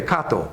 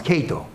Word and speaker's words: Kato: he's name was Kato well Japanese way Kato but they pronounce Kato wow this guy is